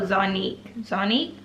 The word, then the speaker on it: Zonique: Oh, Zonique, yeah, that's how you say her name.